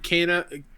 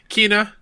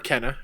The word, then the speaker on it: Kena: I hope we hear more on Kana. Oh my god. how did I say that name wrong? Kena or Kenna, either way.